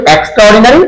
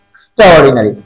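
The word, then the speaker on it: extraordinary: মানে এ দিয়ে শুরু আমরা এটাকে এ দিয়ে উচ্চারণ করি আমরা এটা বলি এক্সট্রা অর্ডিনারি কিন্তু হবে এক্সট্রাডিনারি এক্সট্রাডিনারি ওকে আমি বিউটিফুল ফুল বিউটিফুল বিউটিফুল ফুল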